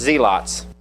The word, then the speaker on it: zealots: One of them was what we would pronounce this word zealots, but it was pronounced zeots.